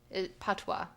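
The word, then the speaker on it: patois: Uh, it's spelled P O. Wait, P A T O I S. PWA.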